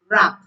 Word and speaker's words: wrap: Silent W is silent before R at the beginning of a word. W is silent before R at the beginning of a word. For example, wrist, right, wrong, wrap. Wrist, right, wrong, wrap.